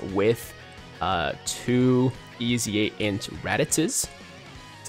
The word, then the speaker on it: Raditz: people clear this with uh two easy ant radices that's how you say it raddus anyways with into raditz i've seen it done